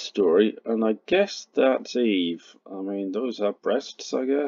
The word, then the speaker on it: et: dépôt, so that's a, as in et, and I always pronounce it e, it can be et, the t probably isn't silent yet, but you get it written without the t as one letter, e.